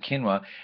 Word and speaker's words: quinoa: not recognize its spelling it looks like it's quinoa Qi n o a quinoa we all pronounce it quinoa and it's a type